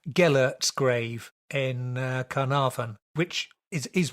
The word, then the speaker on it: Gellert: going to have to correct me on the pronunciation, Gellert's grave in Carnarvon, which is one of those